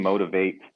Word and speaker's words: Motivate: okay the the name motivate um a lot of people pronounce it motivop or motivation but it is a long a motivate um so i